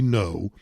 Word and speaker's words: Ngo: Anyway, back on Saturday, it was allegedly right-wing journalist Andy Ngo. Now, if you don't know Andy Ngo, you should follow him on Twitter at Andy, and his last name is spelled NGO, just like non-government organization.